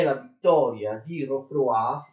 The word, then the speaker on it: Rocroi: La prima è la vittoria di Rocroi, si scrive Rocroi, ma si legge Rocroi, e viene ottenuta dal principe di Condé, d'accordo?